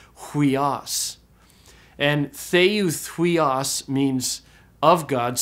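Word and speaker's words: υἱός: word for son hias now earlier when I said the word Sun you didn't know about breathing so I just pronounced it weos but it does have a rough breathing so it is technically pronounced hias and theas means of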